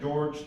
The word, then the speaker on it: Jorge: Now George is spelled like Jorge, but my mom pronounced it George to confuse immigration.